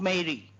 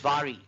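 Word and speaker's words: Mhairi: The story of not Mary, the Scottish pronunciation is Vary.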